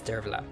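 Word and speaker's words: Derbforgaill: Abdu Ed uic's wife derog Who We Now Pronounce today as Dera Now history is divided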